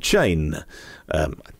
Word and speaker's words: Chain: established one well philippe chain thing that i would say his his surname it's how it's spelt as in bicycle saying philippe is a